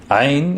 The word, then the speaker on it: ع: Ain is pronounced like the soft growl of a dog.